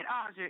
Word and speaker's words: Aja: Now, did he pronounce that right? He did Aja.